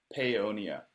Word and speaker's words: Paonia: on a farm in Tell me how to pronounce the town you're from. Paonia.